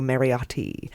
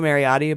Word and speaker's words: Mariotti: I say that because it's very Italian oh yeah pronouncing I could say Renato Mary audio but I'm like Renato Marriott t-those T is hard not often you get